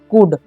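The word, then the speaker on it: could: हो जाएगा कू, और LD का मतलब एल जो है यहाँ पर है साइलेंट है। ठीक है, तो हम यहाँ पर इसे पढ़ेंगे, तो इसे हम पढ़ते हैं कुड। ठीक है, कुल्ड नहीं पढ़ना है।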